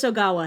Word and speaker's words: Ogawa: Uh, nurse nurse uh uh Oana's got it. Did I say her name? Oawa. Nurse Ogawa has got it.